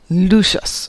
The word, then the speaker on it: Lucius: at the house but lucius lucius so i did say it right the first time but it still looks like it's luscious there are worse things than